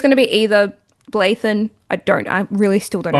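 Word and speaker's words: Bláithín: I think it's going to be either Blathan. I really still don't know how to pronounce her name. Bogue. Blaheen, that's it. Blaheen, Bogue, or Erica O'Shea.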